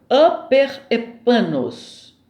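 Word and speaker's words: ὑπερήφανος: Aperepanos. Se escreve Huperepanos.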